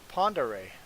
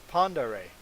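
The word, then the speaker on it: Pend Oreille: what's this lake called lake pondere that is pronounced lake ponderay do you see panda ray in there that is panda ray i asked the locals how to pronounce it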